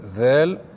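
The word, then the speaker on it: ذ: Ensuite, la lettre Zel. Rappelez-vous la lettre Zel, pour bien la prononcer, il faut mettre le bout de la langue sur l'extrémité des incisives supérieures. Z.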